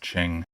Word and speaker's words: Qing: explains it it's the Qing Dynasty it's spelled it spelled q-u-i-n-g yeah but it's pronounced Ching what do you want